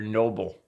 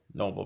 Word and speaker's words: Nobel: away yeah they're they're noble Nobel Prizes instead of Nobel which I think he meant Pulitzer and he said Noble and instead of Nobel yeah it's a it's a mistake inside of a mistake basically yeah so he